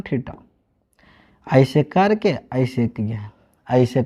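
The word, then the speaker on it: theta: थीटा, पिट्ठा को नहीं बोलिएगा, ठीक ना। एक नहीं सर ये पिट्ठा ना है, थीटा बोलिए, नहीं तो कितना गलत उच्चारण बोल देते हैं, पिट्ठा भेवा पिट्ठा नहीं, थीटा।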